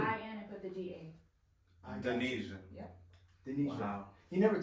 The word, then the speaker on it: Danesia: You see, like you say Indonesia. Oh, okay. Okay. Okay, got you. you. The I-N and put the D-A. Danesia.